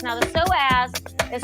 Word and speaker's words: psoas: to focus on the psoas now the psoas is spelled p s o a s so s so the p is silent don't be acting